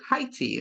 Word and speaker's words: Haiti: in Porta Prince Haiti heti is the correct way to say that I've been told at